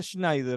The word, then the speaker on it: Schneider: no en en diferentes se pronuncia Schneider no es con una J eh nació en en